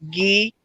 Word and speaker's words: gi: is so just remember GI means ghee and that's for like